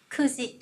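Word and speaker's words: 九時: Và số 9 chúng ta sẽ đọc là Kuji. Kuji.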